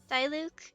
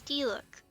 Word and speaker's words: Diluc: Diluc? No, it's Diluc.